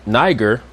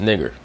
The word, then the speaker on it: Niger: So the word niger, as is mispronounced oftentimes in Acts the 13th chapter in the first verse, is just nigger.